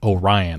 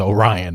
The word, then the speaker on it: Orion: are going to be continuing that Journey with Orion I've been saying it wrong throughout this video it's Orion not Orion anyway that is what we know